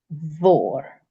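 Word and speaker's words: mhòr: MH is also V, and this becomes vor.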